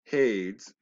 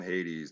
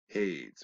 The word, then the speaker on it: Hades: now remember Zeus Presidium and hates they call him Hades there's that's that runs with ladies there's no IES at the end of that they're mispronouncing out on purpose hates rhymes with shade all right these are